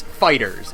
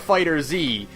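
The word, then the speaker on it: FighterZ: So, Namco Bandai has said it's Fighters.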